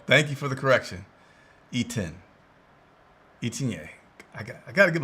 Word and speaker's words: Etienne: E10. Oh, thank you for the correction. E10. Etienne. I got to give a pronunciation charts in front of me.